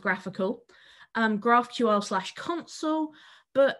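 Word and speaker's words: GraphiQL: what's called graphical so that's graph i ql pronounced graphical um graphql slash console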